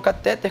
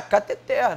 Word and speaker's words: cateter: Aí ele, é cateter, não é catéter não, mas é, mas é cateter sem acento a palavra não tem.